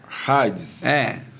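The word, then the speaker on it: ᾍδης: Não é Hades, Hades. Hades. É alfa, aspiração áspera. Hades.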